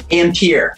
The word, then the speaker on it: Ampere: amper uh amp is is that how you pronounce it amber ampere so that's the unit of measurement for electricity